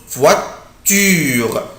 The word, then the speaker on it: voiture: ولازم ننطقها ما ننطقهاش بسرعة مش voiture لا على طول كده اعمل ستريس على la lettre U. بصوا voiture.